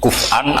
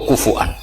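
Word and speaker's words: كُفُوًا: Kuf'an atau kufuan bil hamzah. Kalau yang jalurnya asim apa? Kufuan.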